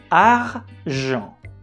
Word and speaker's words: argent: Argent. Argent. As you have noticed, we don't pronounce the letter T at the end of this word.